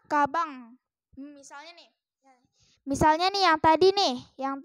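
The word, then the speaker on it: かばん: dibaca Om nah contohnya Ini Kaban kan ada tuh Kaban Kaban dibaca cabang misalnya nih misalnya nih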